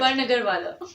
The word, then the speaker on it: Barnagarwala: Did I pronounce that right? Barnagarwala.